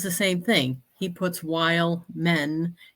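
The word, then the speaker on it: Wehlman: same thing he puts while men is how you say it but it's we h l m an while men yeah wild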